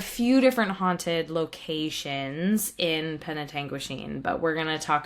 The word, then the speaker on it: Penetanguishene: It's Penetanguishene is how I'm gonna say it, but it's Penetanguishene. I'm sure it's an indigenous word, and Yes. we're gonna call it Penetanguishene.